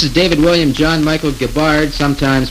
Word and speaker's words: Gibbard: Hi there, this is David William John Michael Gibbard, sometimes pronounced Gibbard, and I come from Stratford, Ontario, Canada, home